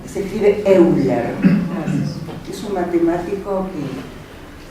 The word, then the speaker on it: Euler: Euler, se escribe Euler.